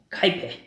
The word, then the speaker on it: Kuiper: Kuiper. Se escreve Kuiper.